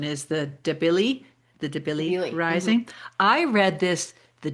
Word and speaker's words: Debilis: So the funny thing about, and you said the pronunciation is the Debili Debilis.